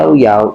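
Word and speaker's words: Llaollao: Pero ang basa niya ilaw-ilaw. O ilaw. Nag-iilaw, nag-spark. Kaya ang pronounce niya yaw-yaw is a popular Spanish frozen yogurt brand known for its natural skim milk.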